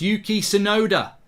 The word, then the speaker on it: Yuki Tsunoda: It's pronounced Yuki Tsunoda, says Mark.